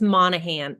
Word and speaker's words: Monaghan: your last name correctly it's it's Monahan the G is silent silent okay I was